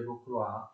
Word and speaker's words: Rocroi: La prima è la vittoria di Rocroi, si scrive Rocroi, ma si legge Rocroi, e viene ottenuta dal principe di Condé, d'accordo?